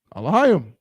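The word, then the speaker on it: אלהים: So just read each letter all the way through, but the last two letters are going to be one syllable together. Alahayim.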